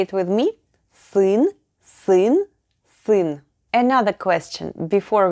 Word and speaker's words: сын: Next up is сын, a combination of s, u, and n.